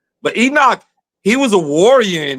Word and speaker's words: Enoch: And I mean, help me pronounce his name, Enoch. Yeah. Enoch. Okay, make sure I want to say it right. Okay, because these are wild names. I think it's right. But Enoch, he was a warrior in there.